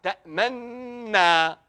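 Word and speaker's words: تأمنّا: Vous entendez le Fatha. Ta'manna. Il n'y a pas de Dhamma.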